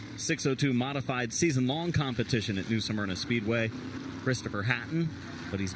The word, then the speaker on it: New Smyrna: Yeah, very fortunate for two-time champion of 602 modified season-long competition at New Smyrna Speedway, Christopher Hatton.